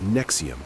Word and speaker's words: NXIVM: Nxivm, pronounced Nexium, operated from 1998 to 2018 as a multi-level marketing company selling personal development seminars.